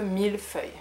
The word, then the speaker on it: millefeuille: Le millefeuille. Le millefeuille, millefeuille, and it means a thousand papers or a thousand layers.